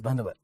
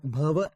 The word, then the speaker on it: Bhanwar: Ki Bhanwar sir, your name is Bhanwar. My name is not Bhanwar. Bhavar. It's called it Bhavar. How it pronounced Bhavar. So my name is Bhavar because in my name that N is silent.